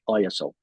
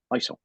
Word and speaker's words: ISO: So he said it's the International Organization of Standards, but in Ireland, they kind of call it ISO. But the true pronunciation is ISO.